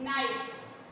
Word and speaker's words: knife: Next नाइफ, KNIFE, ध्यान से देखिए KNIFE, लेकिन इसको हम लोग पढ़ेंगे क्या? नाइफ। नाइफ मीन्स क्या होता है? किचन में देखते हो ना, नाइफ से मम्मी एप्पल काटती, सब्जियां काटती, चाकू। क्या बोलते हैं नाइफ को? चाकू। आप सबको पता होगा, आप लोग क्लास सेकंड में आ चुके हो। तो इसमें के लेटर साइलेंट है।